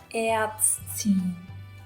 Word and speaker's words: Ärztin: It's basically T-S-T. You should be pronouncing all of these like silence. Ärztin.